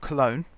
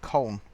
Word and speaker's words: Köln: So it's not Cologne. We call it Cologne in Britain, but they call it Köln in Germany.